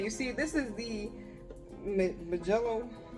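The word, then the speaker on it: Mijello: You see, this is the Majello. How do you say this? It's M-I-J-E-L-L-O, like me and then Jello.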